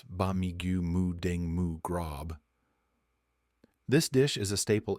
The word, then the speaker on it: Ba Mee Moo Daeng Moo Grob: charu and crispy pork Thai speakers pronounce bigu muing mu grob this dish is a